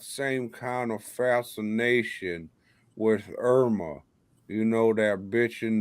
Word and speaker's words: Irma: Which one's Irma? So she rhymes with sperma.